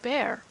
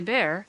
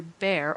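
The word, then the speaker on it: Bhaer: it to me now don't laugh at his horrid name it isn't pronounced either bear or beer as people will say it but something between the two as only Germans can give it I'm glad you both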